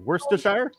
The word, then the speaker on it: Worcester: Worsters. Yeah. Chov's melted in vinegar. Yeah. But Liam Per, mate worship. We just call it Worcester sauce.